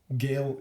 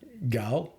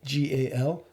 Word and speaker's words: Gal: Gail Gadot. How do you pronounce her surname? Gal, G-A-L.